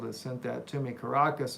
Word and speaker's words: Caracas: sent that to me Caracas is how you say it not carcass they're not there well they